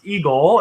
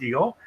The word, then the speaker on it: EGLE: uh which is pronounced eagle and i'm embarrassed to say took me a little while to figure out that the egle is pronounced eagle uh but it was